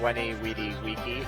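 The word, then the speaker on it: veni, vidi, vici: know what's funny is if you actually say it is the way the the Latin the Roman people said it it doesn't sound as good no cuz it pronounce v as W so it's wheny weedy wey which does not sound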